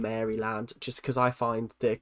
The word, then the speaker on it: Maryland: Um, I've pronounced them as Marryland. I I just pronounce things how they're said. It might be Marryland. I don't know. But I call them Maryland just cuz I find